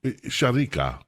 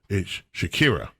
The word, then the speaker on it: Shakira: uh h singer Sharik Sharika. Is is that how we pronounce her name? Right. I've got that right. Right. It's Shakira. Shakira. Not shar or screechica.